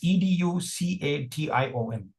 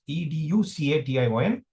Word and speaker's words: education: It's education and there are two stress syllables. K is the primary stress syllable. Edge is the secondary stress syllable.